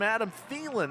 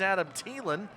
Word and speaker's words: Thielen: I find out almost everybody in the country has been saying his last name wrong everybody calls him Adam thielen the wide receiver for the Minnesota Vikings turns out it's Adam thielen Jacob his cousin is